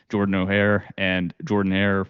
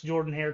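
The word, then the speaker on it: Jordan-Hare: And, we also refuse to pronounce Jordan Hare correctly on this podcast, so we love that. But the O makes the O sound. I don't care where you're from.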